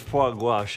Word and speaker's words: foie gras: Oh my God, it's pronounced foie gras, and it's unbelievable.